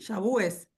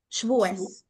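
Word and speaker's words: שבועות: Shabúes, se dice. No, Shavuot. Shbúes, shbúes. Ok.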